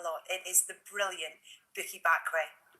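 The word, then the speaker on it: Bukky Bakray: It is the brilliant Bookie Bakray. Bookie Bakray.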